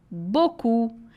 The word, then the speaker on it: beaucoup: Bocu. Eu sei que a gente escreve um monte de coisa e fala só boc.